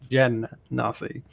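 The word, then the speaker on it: Genasi: to how it's pronounced it's jen nasty um moving on we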